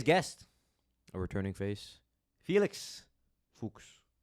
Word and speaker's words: Fuchs: a returning face Felix fuks yes correct fuks like books kind of yeah I don't I